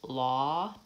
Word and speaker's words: law: an open vowel father what verses law daughter I have to have rounding so this vowel is